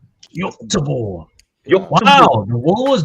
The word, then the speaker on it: Göteborg: The pronunciation for Swedish people is Göteborg. Göteborg.